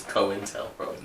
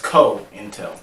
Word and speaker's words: COINTELPRO: It's Co-In-Tel-Pro. That's funny. That's You're funny. like, well, I've been saying it this whole time too. You let me say that. That's beautiful. Because you were saying it right still. It still sounded right. Right. But it's Co-Intel. Right. Co-In-Tel-Pro. Not coin. Not Cointel.